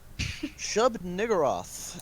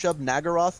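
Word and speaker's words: Shub-Niggurath: Shub Niggurath, and it is pronounced Yeah, just that. Shub- If you think it's pronounced Shub Nagaroth, like how fucking Moon pronounces it, you're a jackass because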